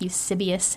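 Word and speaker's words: Eusebius: to this historian guy named i think eusibius i think is how his name is pronounced and so they were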